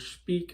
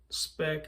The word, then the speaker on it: Speick: And the pronunciation, I've heard a dozen different pronunciations for it, but it's, I've heard Speick, I've heard Speick, I've heard Speick, I've heard Speick.